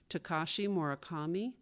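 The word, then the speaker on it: Takashi Murakami: The correct pronunciations of two mentions are Tekashi Morakami and the Holt Smithson Foundation.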